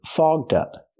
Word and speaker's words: fogged up: We have to use the voiced ggg sound. Fog plus the voiced d sound. Fogged up.